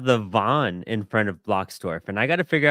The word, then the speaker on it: Bloxdorf: Is that how you say it, Bloxdorf? Yes, awesome. Like a block and blocks and a dwarf.